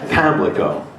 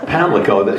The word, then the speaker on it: Pamlico: Pamlico. Yes. Pamlico. So the accent is on the first syllable.